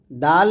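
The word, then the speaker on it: دال: দাল এবং দদ, ডালটা জিহ্বাটা উপর দাঁতের আগে লাগাবেন, দুই দাঁতের আগায়, আর দ জিহ্বার গোড়ার কিনারা উপরের মারি দাঁতের গোড়ার সঙ্গে লাগিয়ে উচ্চারণ করতে হবে।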